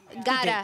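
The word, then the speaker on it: Gaara: Pero para, ¿cómo se escribe? G-A-A-R-A. Gara.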